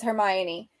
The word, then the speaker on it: Hermione: uh yeah so the way that you actually pronounce it is Hermione in case you guys don't know it's it's